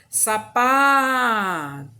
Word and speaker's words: sapato: Sapato. Então, qual foi a sílaba que eu falei mais forte? O sa, o pá ou o tó? Sapato. Então, eu identifiquei que é onde? No pá.